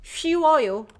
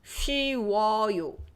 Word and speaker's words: 쉬워요: 쉬워요. Your lips have to go 우. Round it twice. 쉬워요. The first one, only the first time is rounded. 쉬어요. The second one, easy. 쉬워요.